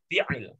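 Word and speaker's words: فعل: Fi'il. Fi'il. Itu huruf tengahnya apa sih? Fi'ala. Gimana bacanya? Gimana? Fi'al. Fi'al. Fi'la. Ingat ya, Fi- itu ain ya. Iya, Ya. fi'il. Ya, Fi'al. jangan sampai berubah jadi hamzah.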